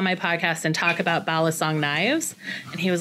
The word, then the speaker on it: balisong: and now I already can't pronounce it the pronunciation that I use is balisong balisong knives yep so we're gonna get into talking